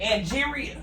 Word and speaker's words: Angeria: Angeria. Oh, Angeria.